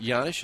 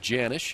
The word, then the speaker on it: Janisch: The name Janisch is Czechoslovakian, which is why it's pronounced Janisch instead of Janisch. And Paul one time was asked, so why, the J with the Y sound instead of the hard J?